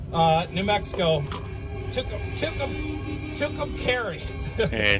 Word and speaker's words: Tucumcari: We're in Tucumcari, New Mexico. Tucumcari. Yeah, Tucumcari. That's how I was pronouncing the mayor, she's sweet as anything, might